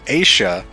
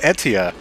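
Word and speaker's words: Aetia: in between sessions is that it's not actually pronounced asia in the asia region it's actually pronounced etia which is weird and makes completely no sense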